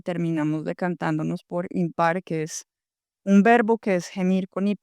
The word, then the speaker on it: Himpar: y terminamos decantándonos por impar, que es un verbo que es gemir con ipos, se escribe con h, no es impar ipar, sino impar e como un verbo eh de lo improbable.